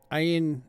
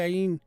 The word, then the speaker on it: Ayin: The pronunciation of the Ayin is also very significant. It is often mispronounced as a silent letter similar to the Aleph. However, Ayin's correct sound is a guttural throat sound which stimulates the thyroid gland.